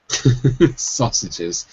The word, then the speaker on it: sausage: Some people will say saw, but it's actually saw. It's more of an ah sound.